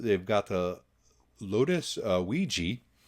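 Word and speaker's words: Evija: got the lotus uh ouija is how i'm going to pronounce that i think that's right yeah yeah starting at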